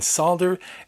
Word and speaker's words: solder: If you've got another way of pronouncing solder and would like to let me know how the L in solder is silent in your part of the world, well, yeah.